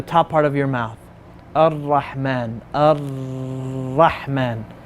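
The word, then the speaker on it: الرحمن: I'm not pronouncing it. I'm saying Ar-Rahman.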